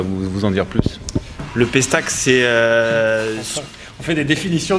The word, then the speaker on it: Pestacle: On se trouve au Pestacle. Je l'ai bien prononcé, oui.